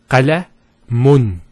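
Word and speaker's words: قلمٌ: If we put two dhammas, it will be pronounced as qalamun. Qalamun. So notice the noon sound at the end.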